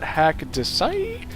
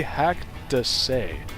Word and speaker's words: haCkDeSaix: pronounce it is not hack to sight and is not hacked a sex it is actually hacked to say so hack to say